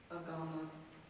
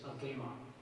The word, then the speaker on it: agama: Agama. Are there any alternate pronunciations? Excuse me. Yes. The word, the first pronunciation, I'm sorry, is agama. The alternate pronunciation is agama.